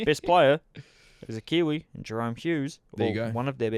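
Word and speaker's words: Jahrome: Let's pronounce his name right, though. It's Jarome. Jerome, Yeah, sorry. Jarome.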